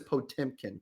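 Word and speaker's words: Potemkin: This one is Potimkin. Correct. That's the correct pronunciation.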